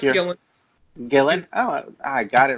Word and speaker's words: Gillen: Is it Gillian? Nope, just Gillen.